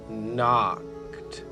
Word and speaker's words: knocked: The K is silent. She's just keeping the N company while he does the talking. So it's he knocked on the front door.